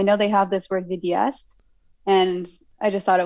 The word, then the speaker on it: vidéaste: Videsta? Oh, vidéaste.